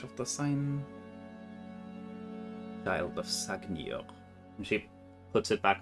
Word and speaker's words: Sagnir: How do you spell Sagnir?